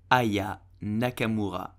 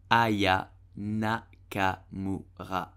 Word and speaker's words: Aya Nakamura: So how do you pronounce her name correctly? You will say Aya Nakamura. Aya Nakamura.